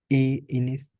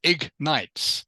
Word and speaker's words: ignites: Inis. Close. It is ignites.